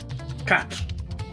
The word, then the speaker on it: quatre: 3 is being pronounced as trois. In French, it is trois. Trois. 4 is quatre.